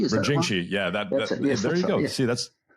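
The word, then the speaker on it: Brinjikji: I've tried to pronounce it. It's a really complex one. Brinjinci, is that Brinjinci, yeah.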